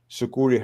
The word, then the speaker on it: Sucuri: Yes, Sucuri. Yeah, very good question, Ryan. Thanks. Yes, we do work alongside Sucuri. Actually, it's funny because Sucuri, sometimes they recommend our plugin, and the reason being is Sucuri has an activity log as well, well said,